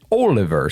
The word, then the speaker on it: Oliver: He told me before the show that our American way of pronouncing that name is Oliver, but over there, the British way of saying it is Oliver.